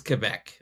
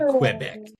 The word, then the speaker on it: Quebec: Uh it's Quebec. Okay. That's how you say it. It's not Quebec.